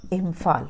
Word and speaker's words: Imphal: इसको पढ़ेंगे इम्फाल।